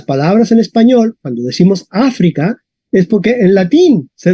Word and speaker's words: África: se pronuncia esta palabra a ver Duque Cómo pronunciarías esta palabra a África Ok sería correcto el acento muy bien Duque